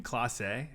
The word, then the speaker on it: Clase: I used to say Clase, and then somebody messaged me and they said, "Hey, it's Clace, and it looks bad to say it wrong."